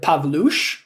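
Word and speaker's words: Pawlusz: s z that is it's pronounced uh pavloosh that's my my last name mine is the ek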